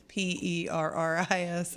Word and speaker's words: Perris: It's not Paris like Paris, France. It's PERRIS. It's where they run the Oval Nationals. yeah. It's a dirt track out there. Okay. So, All right. There's Paris, Tennessee, too, but that's not. It's spelled different.